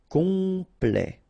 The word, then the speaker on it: complet: Complet. Complet. And then OM is nasal here, just because you get your P after that. So it's on.